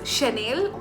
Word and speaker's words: Chanel: like Chanel but it's Chanel. The spelling of Chance in this can be read as Chance in English, but it is Chance because these perfumes are pronounced in a French manner.